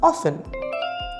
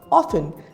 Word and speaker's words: often: you pronounce this word of 10 the correct pronunciation is often repeat after me often T is silence so the words will be